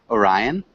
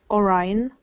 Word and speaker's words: Orion: Good pronunciation. Thank Maybe the you. only thing? Orion? Oh, Orion.